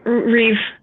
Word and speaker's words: Reeve: very okay with it it's reeve not real read that's true reeve reeve that makes me sound better